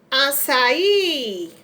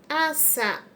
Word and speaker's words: açaí: Teremos açaí, açaí. O acento vai ser no i e vai ser acento agudo, porque o i é aberto.